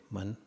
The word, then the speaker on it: मन: So man is pronounced like, in Monday, man, just man, or tonnage, how many tonnage of this ship. So ton, man.